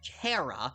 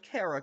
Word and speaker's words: Chara: Cara Gundam, it's pronounced Cara because it's short for character. is pronounced Cara because it's short for character.